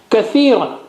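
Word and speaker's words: كثيرا: Kathiran, ka, tha, ya, ran. Kathiran.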